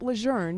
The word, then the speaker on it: Lejeune: what he was taught but he says camp luzerne now it's historically correct and it's consistent with the wishes of the family however this infinite information